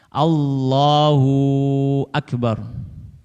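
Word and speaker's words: اللّٰهُ أَكْبَرُ: Tidak menambahkan wawu sakinah atau mutaharrikah. Mutaharrikah itu wawu yang berharokat di antara dua kalimat Allah dan akbar. Contoh wawu sakinah. Allahu akbar. Allahu, hunya panjang. Ada wawu sakinah. Allahu akbar. Ya enggak boleh. Atau menambahkan wawu mutaharrikah, wawu bergerak. Allahu akbar. Allahu akbar. Nah, menambahkan wawu.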